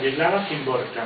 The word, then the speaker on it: Wisława Szymborska: Wisława Szymborska, Sí. Que pronunciar en polaco, en español no te creas que es fácil.